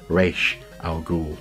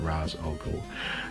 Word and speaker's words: Ra's al Ghul: a comic book fan how it should be pronounced clearly Leonardo is hearing resh al Ghul not Ra's al Ghul so nice little sort of offshoots little sparks